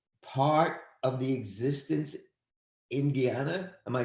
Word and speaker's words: Guyana: later, it remains part of the existence in Guyana.